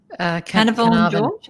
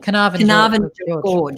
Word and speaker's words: Carnarvon Gorge: Carnarvon George? Carnarvon Gorge.